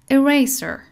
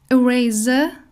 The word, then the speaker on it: eraser: Eraser. Eraser. پاکون. Eraser or eraser یعنی با ز بخواییم تلفظ بکنیم میشه بریتیش، اما اریسر میشه امریکن با س.